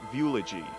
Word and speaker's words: Viewlogy: eternal life machine called VY rhymes with eulogy in a sense this